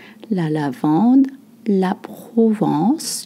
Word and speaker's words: Provence: La lavande, la Provence. You don't voice the N sound.